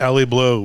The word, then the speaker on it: Elie Bleu: Elie Bleu, is that how you pronounce it? Elie Bleu, we've done this three times now. Elie Bleu shipping to Opus Angel Share Stairway to Heaven Humidor.